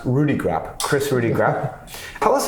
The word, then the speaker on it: Rudeegraap: yep we know that your name is pronounced Rudy crap Chris Rudy graphic tell